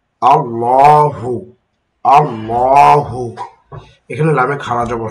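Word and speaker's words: الله: শব্দ এটা হচ্ছে লাফজে আল্লাহ এর পূর্বের হরকতটা যদি জবর অথবা পেশ হয় তখন আল্লাহ শব্দে আল্লাহ শব্দের লামটাকে মোটা করে পড়তে হবে যেমন মিলিয়ে পড়ার কারণে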